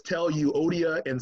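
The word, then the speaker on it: Euodia: You know, in, one of Paul's letters, he says, tell you, Odia and Syntyche, is how you actually pronounce it, to get along.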